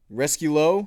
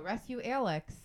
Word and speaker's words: Rescue Alex: Rescue Low? Did I say it right? Rescue Low? No, Rescue Alex. Oh, Rescue He's Alex. not French. I saw the X and I guess I just immediately... You got excited? You're like, I know how to say this. I guess I just immediately assumed it was French.